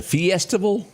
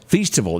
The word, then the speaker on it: Feastival: The Fiestival? Is that how you say that? Festival? Yes. She named it something. What'd she call it? A Feastival. Feastival, that's it.